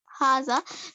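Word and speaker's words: هذا: Haza is pronounced Haza, but is written without the first alif.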